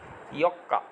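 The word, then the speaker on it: ようか: 8 তারিখের জন্য দেখেন মাঝখানে উ আছে, তাহলে এটা হবে ইয়ৌকা, ইয়ৌকা। এই উটা উজ্জ্ব রাখা যায়, কিন্তু আমরা যেহেতু নতুন শিখতেছি সেক্ষেত্রে সবগুলোর উচ্চারণ সহই উচ্চারণ করব। ঠিক আছে, তাহলে এটা যদি আপনি বাদ দিতে চান তাহলে বলতে হবে ইয়কা, আর যদি বাদ না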